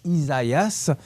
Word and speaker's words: Isaias: Ça s'écrit E-S-A-I-A-S, donc Isaias.